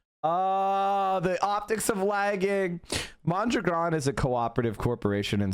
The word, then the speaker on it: Mondragon: Yeah, well, let me correct you about Mondragon, which is, by the way, how it's pronounced. Mondragon has multiple parts.